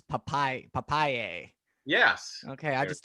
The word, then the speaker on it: Papailler: like Popeye the Sailor Man, and yay! So it's Papaye, and it's from Oh. the papaya, so it directly translates to papaya.